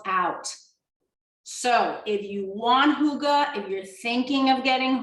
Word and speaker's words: hygge: about that in the next few weeks okay hygge okay somebody gave me the connect oh it was swami gave me the correct pronunciation for hugo last week i'm really excited